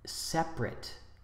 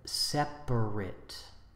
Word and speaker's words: separate: favorite instead of favorite the adjective separate two syllables instead of separate we say several instead